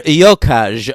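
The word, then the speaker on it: Gjokaj: Enver Yokaj, I believe it's pronounced.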